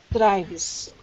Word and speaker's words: drives: Drives. Number 2. You said it right. The word becomes drives, and it's column number 2 with the Z sound, meaning rule number 1.